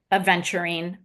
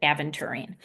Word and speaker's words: aventurine: and then green aventurine some people pronounce it adventuring I pronounce it aventurine so green a urine is the Abundant Crystal